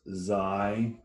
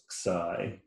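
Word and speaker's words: Xi: has these little loops in English we pronounce it as zai in Greek it's pronounced as Sai and this just like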